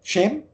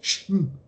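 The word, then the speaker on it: שם: Aber dasselbe Wort, das ist dann, spricht man das übrigens dann Scham, Shem, aus. Das ist ja nur Shem.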